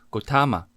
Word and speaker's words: Gautama: 乔达摩的梵文读作 Gautama，也翻译为瞿昙，经典里常出现这个名字。